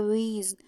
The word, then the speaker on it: wheeze: दूसरा है हमारा WHEEZE, इसको कहा जाता है वीज।